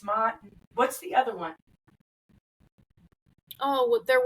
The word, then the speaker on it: Ma'at: What is the Ma'at. term? If I'm saying that correctly, I'm really bad with pronunciations. Because I did make a little notes about that because it's not, it's Mott.